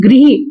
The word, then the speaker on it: गृही: तो गृही, इसको बोलेंगे, सही शब्द क्या उच्चारण होता है इसका, गृही। और ये री की मात्रा जो है इस तरह से लगाई जाती है, उसको हम गृही बोलते हैं।